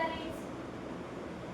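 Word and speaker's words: read: Sita रीड्स। बोलो बेटा। Sita रीड्स। रीड्स। अब देखो रीड की तीनों फॉर्म सेम है। लेकिन आप बोलोगे रीड, रेड, रेड। फॉर्म क्या है? स्पेलिंग सेम है। लेकिन प्रोनंसिएशन अलग है।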